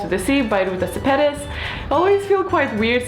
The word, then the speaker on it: Sepetys: name is Lithuanian, but she pronounces it as if it's English version of the Lithuanian name, because Sepetys actually would be Shepetys, and Shepetys actually means a brush, you know, like a hairbrush.